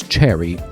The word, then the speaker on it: Chery: The Omoda 5 brand is owned by China's Chery. It's like the fruit but misspelled with only a single R.